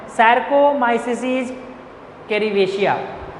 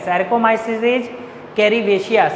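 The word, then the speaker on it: Saccharomyces cerevisiae: हम लोग यहाँ पे किसका यूज करते हैं, वेवर ईस्ट, जिसका नाम है सैरकोमाइसिस कैरिवेशिया।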